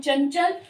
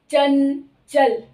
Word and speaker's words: चंचल: और च का तालु स्थान, च का उच्चारण स्थान है तालु, तो इसका मतलब इस बिंदु का उच्चारण स्थान भी तालु होगा, चंचल।